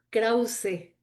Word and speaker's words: Krause: Bueno, mira, el nombre completo es Krause. Sí se pronuncia la E Ah, final. sí se Eh, pronuncia Sí se pronuncia la E final.